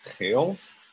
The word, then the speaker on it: Beals: My last name is Dutch name, Beals. In its Dutch context, it is pronounced Geels.